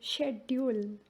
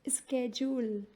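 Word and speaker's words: schedule: इन यूके शेड्यूल, शेड्यूल। एंड इन यूएस स्केड्यूल, स्केड्यूल।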